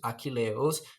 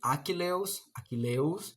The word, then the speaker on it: Achilleus: Would they read Achilleus, as I'm reading, or Achilleus, uh, combining the two last syllables as one? That is a problem that I'm having. I pronounced Achilleus with four syllables, and the antepenultimate syllable is the stressed one.